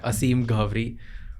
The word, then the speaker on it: Aseem Ghavri: Aseem Ghavri. Ghavri. Okay. Yeah. Aseem Ghavri.